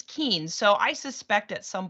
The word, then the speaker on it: Kuehn: the things that's hilarious my last name is not pronounced ku and it's pronounced keen and i don't know